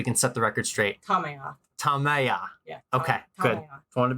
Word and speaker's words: Tamaya: So, but Tamaya, what's the correct pronunciation so we can set the record straight? Tamaya.